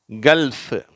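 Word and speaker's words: gulf: Cough, கல்ஃப். சரியா? இங்கே வந்து சைலண்ட் ஆகிடுது. காஃப்னு சொல்லும்போது வெறும் எஃப் உச்சரிப்போடு வந்துடுது. இங்கே கல்ஃப்னும் போது அந்த இல்லு எஃப் ரெண்டும் சேர்ந்து வருது, கல்ஃப்.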